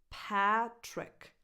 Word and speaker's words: Patrick: Patrick, same vowel that you have in the word cat, bad, pal, Patrick, lax E, Patrick.